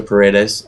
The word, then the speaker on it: Paredes: is, I'm going to rely on you for pronunciation again, Jimmy Paredes. I think it's Paredes. It's a Paredes.